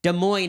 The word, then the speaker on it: Des Moines: Des Moines, Iowa. The S is silent.